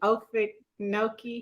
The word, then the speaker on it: Okefenokee: Okefenokee. Oh, Okefenokee Heritage Center.